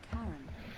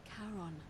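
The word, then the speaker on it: Charon: It's just as you described it, only your pronunciation is a little off. The name you heard wasn't Karen. It was C H A R O N. As in Kon, the fairyman of the dead.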